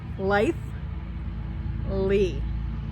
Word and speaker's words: Litheli: sell are like and most people say the word wrong it's only two syllables life lee okay so it's it's kind of easy to say once you know how to say it so lightly lightly come